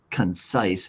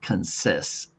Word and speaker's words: concise: In other words, this I makes the I sound. It does not make the I sound. So that's why it's concise. It's not consist.